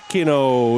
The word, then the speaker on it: Pino: Pino is the pronunciation of the captain for WA.